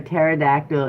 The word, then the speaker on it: pterodactyl: Why can't you hear a pterodactyl in the going to the bathroom? Because the P is silent.